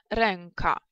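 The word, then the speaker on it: ręka: Слове рука. Нет, оно не произносится мягко, так, слушаем, ренка. Ренка. То есть мягкости здесь нет абсолютно никакой. Слушаем, эу. Эу. Ренка. Так, не мягко.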